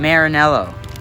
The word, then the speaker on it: Maranello: Try and test drive some Ferraris in Maranello, Italy. You have to say it properly, like an Italian.